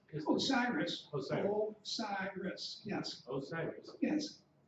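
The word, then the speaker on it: OSIRIS-REx: Osiris? Osiris.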